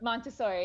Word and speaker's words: Montessori: So you've done what's it, Montessori? Is that what how you pronounce that? Montessori, yes.